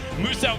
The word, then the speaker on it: Muso: Now, Muso wants you to know his name is pronounced as Muso, the Australian-based content creator down there.